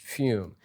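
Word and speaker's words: Füm: f-u-m-e-u-m-e so I think fume right fumi hobby yeah um anyways here's here's fume right and that's f uh uh umlaut over the U and pronounced fume and what fume is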